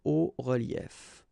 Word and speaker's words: hauts reliefs: then it's quite simple, because S and S, but then we don't pronounce them here. Des hauts reliefs.